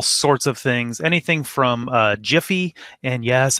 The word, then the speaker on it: Giphy: of things, anything from Jiffy, and yes, I do say Jiffy instead of Giphy. They're GIFs because the announcer or the creator gets to determine how it's pronounced, I guess.